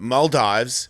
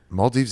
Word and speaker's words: Maldives: Maldives is it's down there. You say Maldives? Am I saying it wrong? No, you're saying the Australian way.